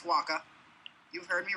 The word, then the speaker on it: Wacha: And nobody knows how to pronounce his name because if you hear it, you immediately think it's Walker, but it's not. It's Wacha.